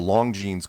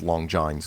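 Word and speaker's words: Longines: on a show called The Long jeans chronoscope which I mispronounced As Long John's chronoscope because what the hell did I know I didn't I apparently they made watches I didn't know how to pronounce it whatever so he was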